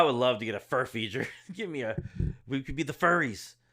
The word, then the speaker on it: Furphy: to pronounce this because you're saying it's Murphy. Oh no, sorry, Furphy. Johnny Furphy. God, dude, I never really cared about a Kansas player, but I would love to get a Furphy.